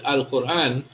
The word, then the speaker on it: القرآن: Now, in this case, in the word القرآن, that alif at the beginning is alif or hamzatul wasl. So the hamzatul wasl, it is silent if there is something before it, which is the case here. There is a whole word before it, right?